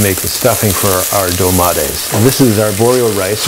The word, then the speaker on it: dolmades: This week we're making dolmades, which I've been mispronouncing for years as dolmades.